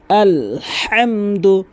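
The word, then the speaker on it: الحمد: আলহামদু আলহামদু। অনেকে বলে আলহামদু হবে না। নামাজ হবে না। নামাজ ভেঙ্গে যাবে। আলহামদু লিল্লাহি লাম কিন্তু এক আলিফ টানবেন এবং হা অবশ্যই হলকের মাঝখান থেকে উচ্চারণ করবেন।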